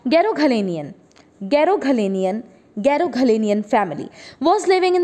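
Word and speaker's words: Garoghlanian: ये है वो ट्राइब का नाम, और इसकी प्रोनाउंसिएशन रहेगी बच्चों गैरोघलेनियन।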